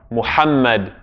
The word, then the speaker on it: Muhammad: Muhammad. Same, his name. If we're going to say his name properly, peace and prayers be upon him, then his name has a ha in it as well.